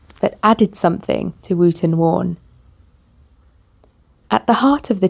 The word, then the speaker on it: Wawen: Pronounced Wootton Wawen, the church is a dash of wildness in urbane surroundings.